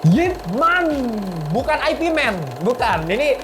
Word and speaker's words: Ip Man: Gramedia, Mbak ada film Ip Man nggak? Ah, Ip Man apa? Terus oh, maksud kamu IP Man? Hah? Kenapa jadi IP Man? Ya cuman ya sebenarnya bacanya Ip Man ya.